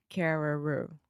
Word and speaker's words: Carreyrou: I believe his name is John Carreyrou. Carrer. It looks like Carreira, but it's Carreyrou.